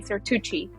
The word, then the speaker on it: Zertuche: surname correctly pronounced oh there are so many ways of pronouncing it one of them can be cuche which is in Spanish or in the US they say seruchi okay so either or